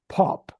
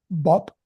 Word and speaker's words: pop: Now, you have to practice those sounds because the tendency for Arabic speakers is to pronounce those as b, bapa, bapa, b, pop, bop. And so you have to learn to put your mouth up a little bit higher for the p sound, then it's more of